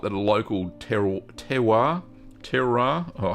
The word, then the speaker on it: terroir: So it's like that local terroir.